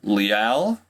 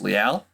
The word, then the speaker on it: Leal: next guy I got here is de Marvin Leal I glad I watched a YouTube video first cuz that is how you pronounced it it is not Le it's Leal de Marvin Leal he is he hails from